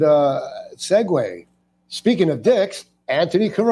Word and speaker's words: Antoni: how we pronounce it Anthony yeah Anthony like Mark Anthony people say pronounced Anton Anon no not Anton because then they go Antony